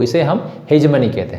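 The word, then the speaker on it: hegemony: और दूसरा जो वर्ड है, ये इसका प्रोनाउंसिएशन हेजमनी। आप जैसे भी कर लीजिए, लेकिन इंडियन कॉन्टेक्स्ट में जो भी आप कर सकते हैं, लेकिन एक्चुअल जो है हेजमनी।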